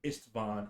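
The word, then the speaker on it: Istvan: modern medicine with professor ist von i-s-t-v-a-n professor esteban is our priest of lathander um do you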